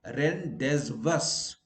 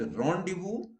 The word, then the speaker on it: rendezvous: Where Z is silent, rendezvous. Okay, so you don't, we wrongly say rendezvous. No, S is in any case silent, but here Z is also silent. So it is rendezvous, not rendezvous or rendezvous.